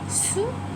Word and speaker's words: sous: Sous is used for under. Again, the s at the end is not pronounced, it is silent. It is sous.